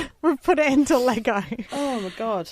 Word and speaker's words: Lego: melbourne um but uh in south australia they say lego instead of lego lego lego there you go yeah